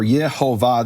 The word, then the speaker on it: Yehovah: recording, who say that the vowels are Yehovah, this is the name of the Creator of the universe and the true pronunciation.